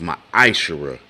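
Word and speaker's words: ma'aser: It means tenth in the Hebrew, and it's pronounced ma'ashara.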